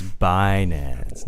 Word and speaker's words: Binance: It's Binance.